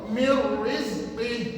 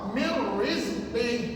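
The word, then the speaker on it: من رزق: Iaitu nun mati jumpa ra, hukumnya idgham bila gunnah. Dan tuan-tuan nak bunyikan ke tidak nun mati tadi? Jangan bunyi dia. Okey, one more. Mir rizqi.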